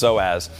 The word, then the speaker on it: psoas: you see it it's it's got a p in front of it but it's pronounced psoas and this area of